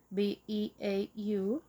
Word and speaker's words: Beau: B E A U.